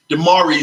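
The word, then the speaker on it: DeMaurice: Smith always misses um the pronunciation of his name of let me make sure I get it correct d'marie Smith yes so we are already the last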